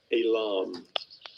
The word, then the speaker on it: Elam: Elam. Yeah, so they pronounce it the same.